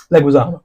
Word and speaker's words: Leguizamo: Leguizamo.